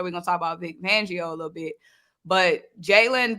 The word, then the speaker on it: Fangio: Hey, how you say it? Van? It's Fangio.